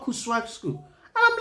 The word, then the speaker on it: Kuswag: Kuswag. I always call it Kuswag because that's how it is spelled.